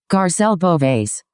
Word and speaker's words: Garcelle Beauvais: And then the girl above that, I'm having a hard time pronouncing her name. I think it's Garcilla. Hang on a second. Let's see if this will work. Let me try it. Let me just see if I can. Hang get on. this one. I got it. I think it's Vivica. She pronounces that. Here. Yeah, but he's yeah. Here we go. Hang on a second. Let's see if this works. Garcelle Beauvais. There you go.